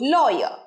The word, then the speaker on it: lawyer: I am looking for নয় বলেছি আগে, রয়ের উচ্চারণ শেষে হয় না ঠিক করে। I am looking for a good lawyer. আরেকবার, I am looking for a good lawyer.